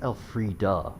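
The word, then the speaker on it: Elfriede: My lady, sworn oath, He says Elfrida with a hard, like, sound. But I don't feel like it's Elfrida. But then again, I guess he wouldn't be wrong pronouncing it because he was in the game and is part of the voice cast. But still, it's just one of those weird things. Elfride, that makes more sense to me because E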